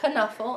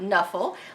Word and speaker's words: Knuffle: one where I found out that it is pronounced Knuffle and not Knuffle, like I had been pronouncing it.